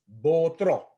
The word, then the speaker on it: Botro: The name of the wine is Botro. Botro. So when you say the name, you just have to have a little bit of accent at the end of the word. Botro.